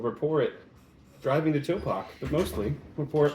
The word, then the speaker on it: Topak: Which apparently is not pronounced Tupac. It is not Tupac. He was a rapper. You should know this. Yeah, but the other way you have to say the word toe.